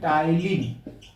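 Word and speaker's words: ptyalin: आप लोग मत भूलिए इसको क्या कहते हैं टाइलिन ठीक है बच्चों पीस में साइलेंट है टाइलिन जो है यही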